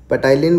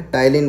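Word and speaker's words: ptyalin: उसमें क्या होता है पटलन बोलो या फिर पीस साइलेंट होता है तिल इन बोला जाता है इसको अब इसमें होता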